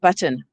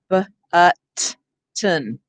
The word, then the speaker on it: button: If the word is button, say the word button. B-ut-ton. We don't say button. We go right from the t to the n. So it forms the basis of the syllable without a vowel, but we said, oh,